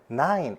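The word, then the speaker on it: nine: 왜 이상하냐면 9, N-I-N까지만 소리가 나고 E는 소리가 나지 않아요.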